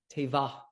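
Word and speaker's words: תבה: Tevah. You'll see it right here. See that word? Again, with no, it's pronounced tevah.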